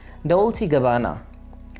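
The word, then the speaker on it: Dolce & Gabbana: Next हमारे पास एक और ब्रांड नेम है डोल्चे गबाना। डोल्चे गबाना। आप इन वर्ड्स को मेरे पीछे पीछे प्रोनाउंस कीजिए ताकि आपकी प्रोनाउंसिएशन ठीक हो सके।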